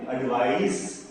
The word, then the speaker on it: advice: ADVICE को बोलते हैं एडवाइस, इसमें स का साउंड आता है एडवाइस, और ADVISE इसमें ज का साउंड आता है एडवाइस।